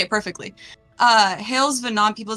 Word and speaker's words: hailsvhenan: thing to say you say it perfectly uh hailes venon people say venon or they Sayan um but